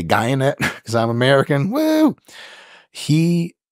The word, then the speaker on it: Guyenet: for sure, Stefan Guyenet, he says pronounced like DNA. I would just say Guyenet because I'm American.